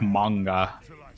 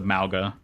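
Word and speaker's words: Mauga: kind of does cuz it's like the Samoan pronunciation which is more like manga as opposed to malga oh God no what's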